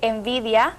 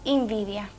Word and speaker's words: envidia: Por ejemplo, en lugar de decir envidia, pronunciamos invidia.